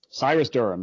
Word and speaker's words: Syrus Durham: to search for you on amazon your name is spelled s-y-r-u-s correct d-u-r-h-a-m cyrus durham that is correct yeah so uh i i